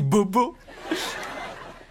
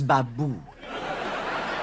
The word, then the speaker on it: Babou: Et votre prénom c'est Bobo? Ça se prononce Babou.